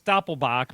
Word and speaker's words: Doppelbock: Isn't it Doppelbock? Well, it's Doppelbock, but Yeah. they Right. spell it on here the American way, Doublebock.